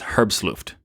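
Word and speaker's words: herbstluftwm: that's what it is the WM is vm because it's a German team and it's a German term and it's the pronunciation of the rest of it is herb's looped so let's continue on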